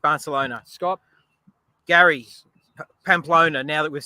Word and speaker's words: Pamplona: Is that Pompano? How do you say that? Is it with a P? Yes. It's That's not with Pompano. Am I saying it right? Close. Pamplona, somebody wrote.